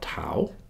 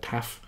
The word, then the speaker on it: tau: There's one called tau. At least we call it tau. I heard there's one of my students, she's Greek, she told me they say it, I think they pronounce it taf in Greek, but I'm going to call it tau.